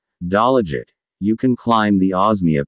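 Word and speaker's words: Dalaguete: Osmeña Peak in Mantalongan, Dalaget pronounced Dalaget, you can climb the Osmeña Peak of Cebu.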